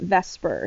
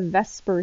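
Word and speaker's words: VSEPR: very long name so we tend to use the acronym v-s-e-p-r but we pronounce it vesper so we call it the vesper theory and the main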